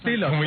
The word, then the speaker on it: tilak: A tilak, that's what the word is. What is it? Oh, no. What is the word? Tilak. T-I-L-A-K, that's how you say it.